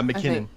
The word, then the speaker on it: McKinnon: Yeah, McKinnon.